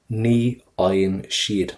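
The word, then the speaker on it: ní fhaigheann siad: We said a couple of seconds ago that the FH is silent, and it is, always. And the GH in the middle of your word is going to be silent for you as well.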